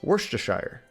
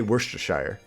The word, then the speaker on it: Worcestershire: I always say Worcestershire. Worcestershire. Worcestershire. Worcestershire. Worcestershire. Almost sounds like you're saying worst the shirt.